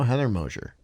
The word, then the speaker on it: Heather Mosher: and my other pal heather mosher hi hey there that's how you say her name for real by the way i